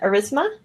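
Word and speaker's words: Aurasma: second a u r all right and they pronounce it erisma yes okay and thank you pm gnt for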